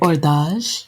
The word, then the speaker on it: Hors d'Age: do you pronounce it orage like orage yeah like think ERS but it's like do like oh yes it's like of an old age um and that's part